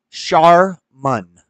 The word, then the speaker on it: Charmin: see backwards charmon charmon how do you pronounce charman Google says Sharman yeah there's whitewashed and racist Shan I'm gonna side with the blacks on this one charman charman charman charman see you kind of said it Mexican style and I I think you said it right this time they don't know